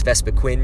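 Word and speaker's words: Vespiquen: but that's why it's vespa quinn you can see its name it doesn't have two e's it's not even pronounced queen but that's kind of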